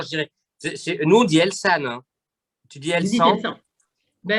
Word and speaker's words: Elsan: Nous, on dit Elsan. Hein. Tu dis Elsan? Ben, ah oui, bon, nous, on prononce comme Elsa.